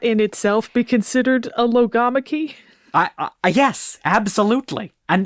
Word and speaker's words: logomachy: like accepted pronunciation is lamak because of like biology like those kind of Greek words where the emphasis is on the second syllable right but there's also